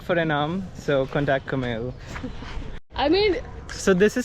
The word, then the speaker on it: Camille: It's Camille. Camille. Okay, and that was pretty close that time. Camille. Usually it says Camille. That's the Indian pronunciation.